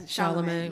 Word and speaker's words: Chalamet: Yes, Chalamet.